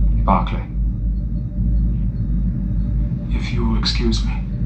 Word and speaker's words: Barclay: Broccoli. Barclay. If you will excuse me. Metathesis is one of the most common of pronunciation errors, sir. A reversal of vowel and consonant. Bark to Brock.